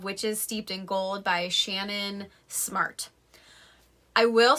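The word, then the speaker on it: Ciannon: this is her name i'm pretty sure it's shannon it's c-i-a-n-n-o-n so if anyone if it's not shannon please correct me because i think it's one of those names that can easily be mispronounced but i think i'm right so this book is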